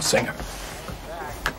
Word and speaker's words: singer: both of these words the G is not pronounced with a hard G sound we don't say singer and we don't say hanger we say singer and hanger today we're going to